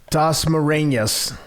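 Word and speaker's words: Dasmariñas: How do you pronounce his opponent's name, Ken? Dasmarinas.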